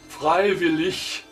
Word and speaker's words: freiwillig: Final G, pronounced like K, wie in Anfang, beginning, or after L, where G pronounced like the front ch, freiwillig, voluntary, freiwillig. H, in a word like H, wie helicopter, house, house, haben, to have.